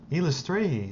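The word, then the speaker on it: Eilistraee: Elistray is how you pronounce the god's name.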